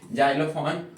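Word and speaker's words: xylophone: starting in the word तब आपको क्या करना होगा उसका उच्चारण ज करना होगा जैसे स्पेलिंग है आपके सामने जाइलोफोन और जाइलोग्राफी यानी स्टार्टिंग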